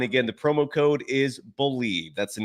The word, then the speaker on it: Bleav: Head to Bet Online today, and don't forget to use the promo code BELIEVE. It's the name of the network that we're on. It's spelled uniquely, BLEAV, and that is the